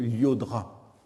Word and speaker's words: Llodra: ou encore celui du champion de tennis d'origine catalane je crois à michael avec deux ailes au début du mois llodra donc ce billet on